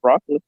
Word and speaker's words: Broccoli: She said that it's an Italian name, and that it's pronounced broccoli.